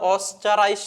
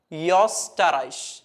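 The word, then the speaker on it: Österreich: അപ്പൊ ഇത് സാധാരണ വായിക്കുന്നത് ഓസ്റ്ററൈസ് എന്നാണ് വായിക്കുക ഓസ്റ്ററൈസ് ഇനി എന്താണ് ഡിഫറൻസ് എന്നുള്ളത് നിങ്ങൾ ശ്രദ്ധിക്കുക ഓ ഉംലാവിലോട്ട് മാറുന്ന സമയത്ത് ഞാൻ അത് വായിക്കുന്നത് യോസ്റ്ററൈഷ് യോസ്റ്ററൈഷ് ഓസ്റ്ററൈഷ് യോസ്റ്ററൈഷ് സോ ഓ വരുന്ന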